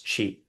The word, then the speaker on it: Qi: But modern international and professional courses say and write, they write this way, but it's better to pronounce Qi.